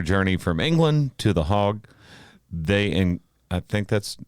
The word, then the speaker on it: Hague: During their journey from England to the Hague, I think that's how you pronounce that? Hague?